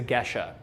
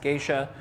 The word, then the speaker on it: Gesha: pushed everything was the gesha okay um often mispronounced geisha and it is not